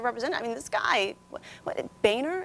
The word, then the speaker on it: Boehner: I mean, this guy, Boehner is how we say his name. We've all agreed to that. Not pronounced the other way.